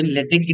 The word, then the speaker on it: LaTeX: बट जिसका correct pronounce है वो है एल ई वाई ले टी ई सी एच टेक ले टेक इसको क्या प्रोनाउंस करेंगे लेटेस्ट तो इसका करेक्ट प्रोनाउंस हुआ लेटे तो इंस्टेंट ऑफ़ सेइंग लेटेक्स हम इसको बोलेंगे लेटेक चलो एक बार इसकी